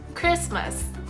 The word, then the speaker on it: Christmas: Christmas ですよね。